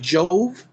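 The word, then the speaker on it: Iove: So, again, Yahweh, if you research for yourself, if you trace it back to the Latin, like Jove is how it would be pronounced in Latin, I-O-V-E, okay?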